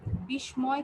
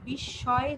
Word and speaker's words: বিস্ময়: বিস্ময় চিহ্ন নয়, এটা হচ্ছে বিস্ময় চিহ্ন। হ্যাঁ, এখানে যে ম আছে, দন্ত স্বয়ের নিচে যে ম, এই মটা উচ্চারণ হবে না, ঠিক আছে? এটা হবে উচ্চারণ হবে না, এবং দন্ত স্বয়ের উচ্চারণটা দীপ্ত হবে, মানে 2 বার হবে।